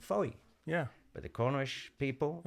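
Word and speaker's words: Fowey: but it's it's it's uh spelled f w e why okay and in my ignorance I'd always called it Foy yeah but the corish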